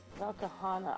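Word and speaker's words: Velkhana: Valkahana.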